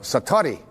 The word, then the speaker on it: satori: it's called excuse my Japanese but it's called Satori I love to say say that sator s